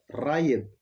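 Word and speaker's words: غايب: Et ne roulez pas le R, parce que si vous roulez le R, ça veut dire le yaourt. Raïb.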